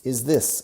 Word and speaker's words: this: No decimos is this. This. La lengua sí se ve.